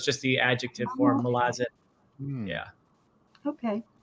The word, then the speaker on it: Malazan: It's fine, however you say it, but I believe the way Erickson would say it is Malazan.